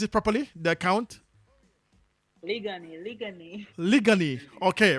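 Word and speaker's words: Liguanea: I pronounce it properly. The account. Ligani.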